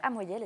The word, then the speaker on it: Amoyel: à vous vous venez me présenter aujourd'hui pascal amoyel est ce que je le prononce bien oui tout à fait il offrait un spectacle samedi soir à l'espace est philippe noiret des clayes-sous-bois oui pascal amoyel c'est ce pianiste virtuose que vous entendez aussi